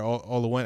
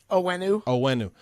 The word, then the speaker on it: Onwenu: Olawenu. How you say it? Onwenu. So Michael Onwenu is another one.